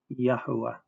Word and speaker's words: יהוה: The full form H3068, dagesh forte in the wa, a double wa, therefore 3 syllables, consonant, vowel, consonant, vowel, consonant, consonant, vowel, consonant, kamatz under the yod, kibbutz under the hay, silent shua under the first wa, kamatz under the second wa, pronounced Yahuwah.